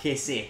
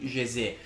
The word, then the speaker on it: José: Ricordo quel gol in finale di Champions al Barcellona con José Rodríguez, che poi in realtà credo sia José la pronuncia corretta, ma io lo chiamai José con la voce da 14enne.